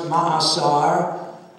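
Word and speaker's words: מעשר: it begins with the tithe in hebrew it's pronounced mahasar and which means a ten and tithing is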